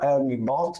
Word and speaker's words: ERNIE Bot: sorta di competitor appunto di chatbot si chiama ernie Bot dovrebbe pronunciarsi così o scritto ernie Bot ernie ernie